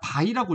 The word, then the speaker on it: 배: 어떻게 쓰냐면 배처럼 쓰고요 사실 이거를 배라고 있는게 아니라 바이라고 읽어야 돼요 바이 읽는 거는 다이라고